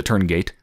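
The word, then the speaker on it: Tuurngait: I could have SW almost pronounced turn Gat I thought I heard someone pronounce it that way but then towards the end they started saying Turn gate so I'm going to say turn gate so yeah the turn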